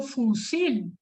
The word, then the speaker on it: fusil: aquí cambia otra cosa yo no pronunció fusil como fósil pronunció fusil entonces aquí la sílaba tónica sí y entonces aquí me